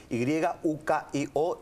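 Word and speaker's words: Yukioh: Bueno, mi nombre se escribe Y-U-K-I-O y Yukio. Con H al final.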